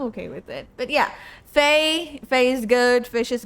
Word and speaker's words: Feish: Yeah, fish because fish because fascia sometimes is pronounced as fish. It's just a misprononunciation. It's fine, but you can also call me that.